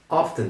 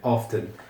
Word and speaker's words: often: Um parêntes often. Tem duas pronúncias possíveis. Uma é essa que eu acabei de falar. Pronunciando o T. Claro que não muito forte, mas tem uma, dá para vocês ouvirem que eu tava falando n often. Ou muita gente omite simplesmente t e fala often.